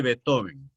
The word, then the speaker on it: Beethoven: la estética musical de beethoven bien se escribe bits h joven con 9 joven para decirlo muy a la alemana o beethoven como decimos en costa rica o como decía un